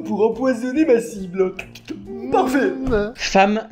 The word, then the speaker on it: femme: Femme, ça s'écrit avec un e et ça se prononce avec un a.